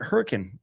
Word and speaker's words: Hurricane: But the reason for it is the settlers that came through here in the 1800s they spoke English in a different way as European settlers often do and they pronounced it hurricane.